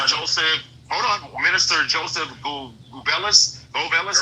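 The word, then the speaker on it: Goebbels: Minister Joseph Gubellis. Gollis. How you pronounce that last name? Gerbles, buddy. Okay. So, so okay. Gerbles, that's how you pronounce his name? Gobles.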